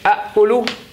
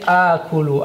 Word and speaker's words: آكل: You would say أنا. What do you say? أأكل. You would actually say آكل.